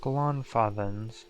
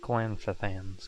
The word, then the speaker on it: Glanfathans: So it's pronounced Glonfathans, not Glanfathans.